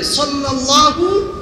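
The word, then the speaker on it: صلى الله: সবাই পড়েন সাল্লাল্লাহু আলাইহি ওয়াসাল্লাম সদ দিয়ে উচ্চারণ সহী হতে হবে সাল্লাল্লাহু আলাইহি ওয়াসাল্লাম তিন নম্বর চলে গেল চার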